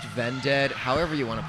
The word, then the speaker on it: Vended: Yeah, it's pronounced Vended.